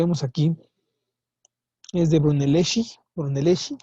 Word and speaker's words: Brunelleschi: Brunelleschi, aquí se pronuncia Shi, no Chi, que es la cúpula de la Catedral de Florencia.